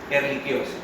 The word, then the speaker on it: Ehrlichiosis: Ehrlichia, eso es latín, y el latín CH es como los italianos. No se pronuncia che, eso es español, pero eso no está en español, eso está en latín. Y CH se pronuncia como si fuera una Q.